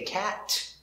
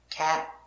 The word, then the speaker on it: cat: finish with a t it is a stop t we don't say cat we put our tongue up and we stop cat go to the t position but don't complete cat hat bat wrap let's